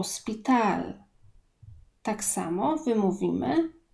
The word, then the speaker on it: hospital: szpital oto speed al chad języku hiszpańskim jest nie ma więc to nie czytamy o szpital tak samo my mówimy